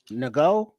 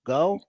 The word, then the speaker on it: Ngo: Nago. Go. How do you pronounce that? You the N is silent.